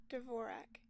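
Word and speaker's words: Dvorak: I the I think I think the keyboard layout is it is it do we pronounce the D? Hold on. D'vorak. Okay it is D'vorak.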